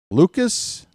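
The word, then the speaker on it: Lukes: Uh, it's not Luke's, it's Lucas. I think it's Lucas. I think I heard it pronounced that way.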